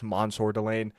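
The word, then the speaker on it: Mansoor Delane: I had them selecting I think it it was Mansor Delane. Yeah. Yeah, I had them selecting Mansour Delane, the corner from LSU or I guess Mansour Delane. That's how it's pronounced.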